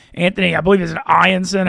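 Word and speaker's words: Eyanson: Anthony, I believe, is it Ianson, how you say it, the #2 guy from Cal Santa Barbara. Anson, yeah, he's been great.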